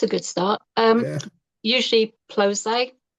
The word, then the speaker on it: Ploszay: Yeah, Usually Ploszay. Ploszay.